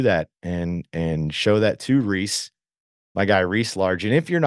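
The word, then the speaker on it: Rhys: Now Reese is spelled R-H-Y-S, so it's R-H-Y-S underscore Largent, L-A-R-G-E-N-T.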